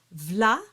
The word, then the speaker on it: V'là: where to emphasize things so here's what you do you stick the L of stick it on the vla because most of the